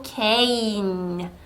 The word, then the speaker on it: cane: can 아니고 cane 요렇게 발음할 수 있도록 지도해 주십시오.